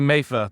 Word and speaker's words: Mattha: to the show welcome it's actually MAA but you're welcome I'm glad to be here please correct me is is somebody who is having a hard hard time sometimes pronouncing names in general uh so it's it's yeah it's MAA Mather interesting I mean